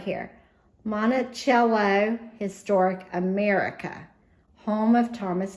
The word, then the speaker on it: Monticello: I'm not from Monticello, which is how they pronounce that. We call it Monticello in the South.